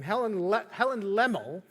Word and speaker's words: Lemmel: The author of the song that we just sang, Helen, how do you pronounce her name? Helen Lemmel.